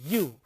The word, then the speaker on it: ewe: So, that is when you pronounce the word, that is you, that is not you.